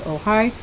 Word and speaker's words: Ojai: how to pronounce this if it's pronounced like um in Spanish oh hi or it could be Luigi it is Ojai California every year thousands of